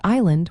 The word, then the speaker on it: island: For instance, the word island was once spelled, but it gained a silent s due to a mistaken connection to the Latin word insula.